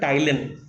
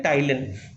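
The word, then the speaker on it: ptyalin: Salivary amylase, and इट is also called, it have another name called टाइलिन। P silent है इसमें, इसको क्या बोलते हैं? टाइलिन।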